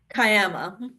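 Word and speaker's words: Kiama: author and academic from Kama Australia did I pronounce that right cayama say it again cayama cayama cayama Australia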